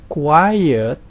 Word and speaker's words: quiet: Yang ini maksud saya quit ada satu syllable, sedangkan quiet itu ada dua syllable, yaitu yang pertama adalah qui dan yang kedua adalah it.